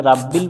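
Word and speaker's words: رَبِّ: ভুল করি সেটা হচ্ছে অনেকজনে পড়ি রাব্বিল তো এখানে রাব্বিল পড়া যাবে না রব্বিল পড়তে হবে রব্বিল আসসালামু আলাইকুম ওয়ারাহমাতুল্লাহি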